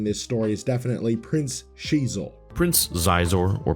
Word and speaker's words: Xizor: One of the standout characters in this story is definitely Prince Shizor. Prince Xizor or pronounced Zizor who is the prince the underlord of black sun the crime syndicate.